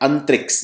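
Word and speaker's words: Antrix: टी आर आई एक्स इसकी spelling भी आपको याद रखती है इसको बोलते हैं अंतरिक्ष ये है इसरो की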